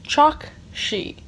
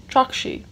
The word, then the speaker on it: Chokshi: Also, I mispronounced her last name. It's Chokshi. Chokshi.